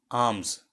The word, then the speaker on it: alms: पांचवा शब्द है आर्म्स। आर्म्स स्पेलिंग है ALMS।